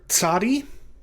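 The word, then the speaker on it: tsadi: a final form the letter tsari is pronounced like the ts in the english word boots or the ts at the beginning of the english transliteration tsunami right this isn't a simple s sound it's not just it's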